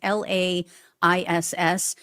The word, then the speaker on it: Laiss: Matthew Laiss, I believe is how you pronounce his last name. It's Laiss.